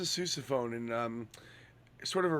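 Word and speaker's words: sousaphone: Is it susophone? It is a susophone.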